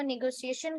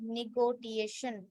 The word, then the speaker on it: negotiation: इसको निगोशिएशन कहेंगे, mostly people are pronouncing निगोटिएशन, इट्स a wrong word.